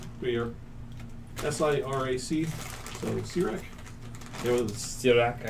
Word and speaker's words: Sirac: You get to make them How's pronounce it spelled? We are SIRAC.